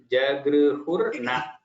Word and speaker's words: जगृहुर्न: Jagruhurna. It's actually Sandhi when you separate, it is Jagruhuhu and Na. There is Jagru, simple. Jagru. And then Hurna. That's how you can practice.